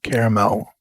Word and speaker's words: Carmel: He and I were doing the Carmel Plein Air event, and I believe it's pronounced caramel. Yeah, caramel. That one.